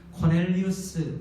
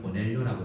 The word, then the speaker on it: 코넬리우스: 코넬리우스, 우리 한글에는 고넬료라고 되어 있지만 영어로는 코넬리우스라고 발음을 합니다.